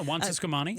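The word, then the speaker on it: Juan Ciscomani: Yeah, Juan Siscomani.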